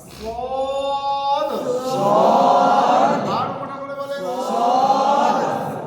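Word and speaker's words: ص: সকলে একসাথে বলেন এটা সিটি দিয়ে আওয়াজ হবে, লাস্ট একটা ধাক্কাকে উঠে আসবে, আওয়াজটা মোটা হবে সদ।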